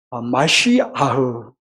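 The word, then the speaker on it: משיח: 근데 이 메시아는 히브리어로 마시아흐, 또 그리고 아람어로는 메시하 이렇게 발음을 해요.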